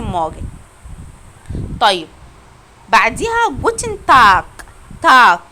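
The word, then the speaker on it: Tag: تاك، خدوا بالكم ان حرف الجي اللي بيجي في الاخر بيتنطق زي الكي بالظبط.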